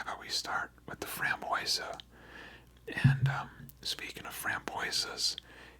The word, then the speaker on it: framboise: same it appears but raspberry is pronounced froa so how about we start with the Fran boisa and um speaking of